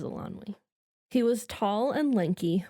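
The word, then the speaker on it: Eilonwy: This would be Elanwi, I think is how you pronounce that. Yes, it is Elanwi.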